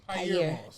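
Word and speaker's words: Pyer Moss: So it's Pyre Moss? Pyre. Pyre Moss. Yeah. I was always saying it wrong.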